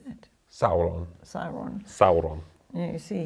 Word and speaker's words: Sauron: of the Rings this is the board where saon how did I say that right how do you say that Sauron saon Sauron yeah you see he gets pronunciation